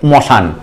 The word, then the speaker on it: শ্মশান: ঠিক তেমন যদি আমি আরেকটা মানে মানে উদাহরণ নেই, দেখো শ্মশান, শ্মশান থেকে মশান, সেটা কি জিনিস, শাক্তপল্লী গ্রন্থে আমরা পড়েছি শিব শ্মশানে মশানে ফেরে ঘরের ভাবনা ভাবে না।